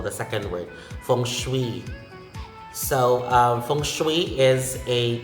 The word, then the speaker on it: feng shui: Next, feng shui, feng shui, not feng shui. Feng shui, and the stress is in the second syllable, the second word, feng shui.